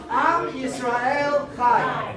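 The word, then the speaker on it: עם ישראל חי: In Hebrew, we say it like this. Am Yisrael Chai.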